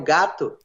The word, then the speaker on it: gato: Esse é o seu gato.